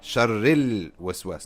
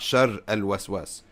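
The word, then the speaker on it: شر الوسواس: Sharril waswas, not shar al waswas. You don't say min shar al waswas, sharril waswas.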